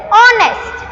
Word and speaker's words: honest: Even though honest, the spelling is starting with H, the H letter is silent there and the pronunciation of the word is honest, and it is O is a vowel sound, so we can use the article an.